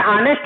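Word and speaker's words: honest: है तो एच है तो इसका एच साइलेंट है ना, उच्चारण ऑनेस्ट होता है, ये ध्यान दीजिए।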